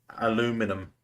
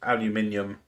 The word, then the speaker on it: aluminium: But I mean, I know it's aluminium, but you know how the Americans are about saying pronouncing that last bit of the word. They don't like to say that last I, do they?